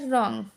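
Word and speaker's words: wrong: आर से पहले W silent होता है, यानी कि आर से पहले डब्ल्यू हमेशा साइलेंट होता है। जैसे कि अब इसको रॉन्ग नहीं पढ़ेंगे, इसको पढ़ेंगे रॉन्ग। राइट।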